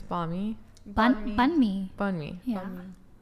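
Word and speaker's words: bánh mì: How do you pronounce the sandwich? It's banh mi.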